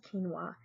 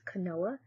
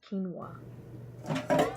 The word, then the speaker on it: quinoa: correct pronunciation of the word spelled q-u-i-n-o is quinoa the incorrect pronunciation is kanoa though i knew this while making the video